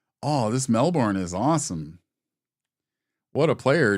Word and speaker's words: Melbourne: Jade Melbourne is how you pronounce her name, but her name is spelled Melbourne, and she is Australian.